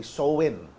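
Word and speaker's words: Samhain: a m h a i n ang pagkaka pronounce po a soen when people would light bonfires and wear costumes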